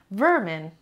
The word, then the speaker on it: vermin: the job number seven vermin vermin vermin two syllables and distress on the first level for example the Lieberman